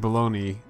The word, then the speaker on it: bologna: Bologna is pronounced baloney.